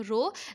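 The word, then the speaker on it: rho: ये Greek letter है, इसे आप प्रोनाउंस करते हो रो, लेकिन ऑल दो द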